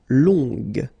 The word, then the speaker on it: longue: Okay, so long, remember you don't pronounce the final G, will become longue. Okay, so phonetically it's longue, longue.